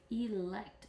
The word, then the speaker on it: elect: class president elect and if you notice that first e here is elect because it is an open syllable therefore it makes a long e sound elect so let's take a